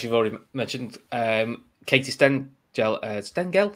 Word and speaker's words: Stengel: and then as you've already mentioned um katie sten gel uh stengel stengel i was getting wrong stengel sorry has joined